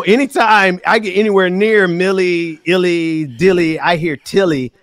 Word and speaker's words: Milley: He was like, well, it's Milley, but Ben is not getting Tilly, so let me say Miley to help him out to understand he's saying it wrong.